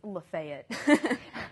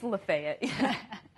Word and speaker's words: Lafayette: them because you'll have a name like Lafayette and people will try to say it like that but oh no it's lefet it's lefet oh fville oh yeah oh